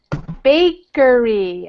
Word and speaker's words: baker: Yeah, that's close to bikers, but bikers with the I. Yeah. You want the baker. Oh, okay. Baker. Okay. It's difficult. Yes. To pronounce. Yeah, one difference, one sound difference there. The A and the I.